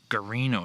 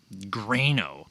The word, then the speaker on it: Guarino: last name good gosh it's guarino not grano i guess i'll forgive